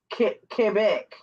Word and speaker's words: Quebec: She's in Quebec. Did I say it Yeah, right? you said it Oh, right. okay. Because a lot of people Mm. say Quebec. It's Quebec.